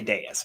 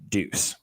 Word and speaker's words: Deus: I say Deus, but it's... Yeah, Deus. Deus, okay. I guess... Whatever the Latin pronunciation of words is. Well, that's a dead language, so there's a lot of debate. But it's definitely not Deuce.